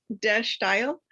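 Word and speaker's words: De Stijl: um this is the dash style um it's pronounced dash style it's a dutch word for style and this movement started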